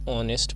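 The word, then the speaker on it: honest: नेक्स्ट इज शी is dash ऑनेस्ट person. ठीक है, तो ऑनेस्ट में जो है आपका एच जो है ये साइलेंट रहता है, तो ये इट इज़ लाइक दैट, इसकी फोनेटिक्स जो है दैट इज़ लाइक दैट।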